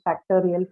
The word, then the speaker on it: factorial: you can do is this IAL suffix, right? This works very similar to your shin. Okay, this is another suffix which takes stress on the syllable that goes before it, right?